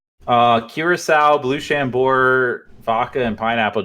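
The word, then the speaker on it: Curaçao: ] now it's like Curacao blue Chambord vodka and pineapple juice I think did you say Russian though no Chambord loo Curacao okay which a lot of people pronounce Cracow or cute croc I don't even [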